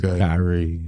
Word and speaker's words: Kyrie: It's spelled just like Kyrie Irving. It is Kyrie.